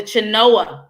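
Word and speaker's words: Chenoa: real important this is a program called the chinoa that you know alone is spelled c-h-e-n-o-a the chinoa loan that's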